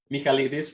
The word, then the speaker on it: Michaelidis: Okay, so for those of you that don't know, Michaelidis, or for people that are not Greek, Michaelidis.